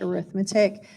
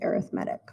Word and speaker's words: arithmetic: Now notice it's spelled exactly like arithmetic, but in this context, you'd pronounce it arithmetic, okay? You'll sound funny if you say arithmetic, just so you know.